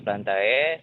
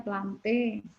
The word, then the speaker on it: Plantae: Jadi domainnya yaitu eukariotik, lalu kingdomnya ada Plantae, lalu di heterokontofita itu Sorry deh. masuk ke divisi. Maaf. Saya interupsi. Bacanya jangan Plantae. Bacanya Plante. Ya.